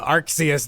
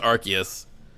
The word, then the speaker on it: Arceus: pokemon like uh arcsius this whole time i've been saying arceus the whole thing no it's because it's pronounced arceus uh yeah i guess